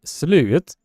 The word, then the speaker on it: slut: are writing that and it is a pron pronounced slute but how it is written will make all of you laugh I'm going to be